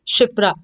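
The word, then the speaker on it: Kshipra: Answer is शिप्रा। इसमें के जो है आपका साइलेंट है।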